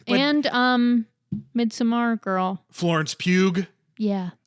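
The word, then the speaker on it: Pugh: to pronounce it hear I think it's just Pew I don't think there's an extra G no no here's the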